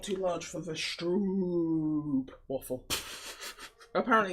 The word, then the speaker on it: stroop: It's pronounced like soap. The double O and Strope. a stroke soup. waffle. Double O like soup.